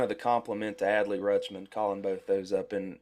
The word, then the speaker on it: Rutschman: Yeah, Adley Rutschman.